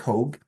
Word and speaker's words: Hogue: Guest today is hog did I pronounce that uh your last name correctly so that is perfect hog or you can my